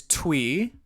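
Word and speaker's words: Thuy: a lot for her okay my pick is twe is spelled t hu y she is I think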